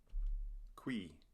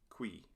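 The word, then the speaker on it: cui: Qui. It's a single syllable. UI is yet another diphthong, and it sounds like the English word we. Qui.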